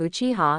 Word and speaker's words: Uchiha: waved his hands helplessly the pronunciation of Uchiha in Japanese is indeed very similar to iiha as for the color